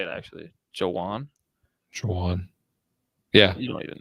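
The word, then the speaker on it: Jauan: Jennings Jan how do you say it actually Jawan Jaan yeah you don't even know it's Jaan J it's Jan Jennings Joan Jennings 12 targets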